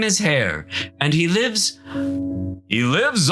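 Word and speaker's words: Haigha: does them when he's happy his name is hair he pronounced it so as to rhyme with M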